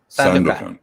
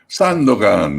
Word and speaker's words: Sandokan: Sandokan. Okay. Sandokan in Italian, but Sandokan in English.